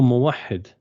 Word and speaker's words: موحد: Oh, Muwahid. Where are you from? أمريكا. من أين أنت? أنا من أمريكا. أمريكا. نعم. So موحد, you would spell it with a W, but never mind, it's not an English lesson.